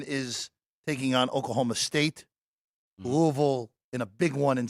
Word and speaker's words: Louisville: Louisville. How do they say it? Louisville. Louisville. It's like Louisville. one syllable. Louisville. One, yeah.